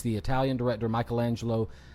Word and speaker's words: Michelangelo: it's the Italian director Michelangelo antonioni I think you got it got it antonioni the only my only note is Michelangelo okay gotcha um and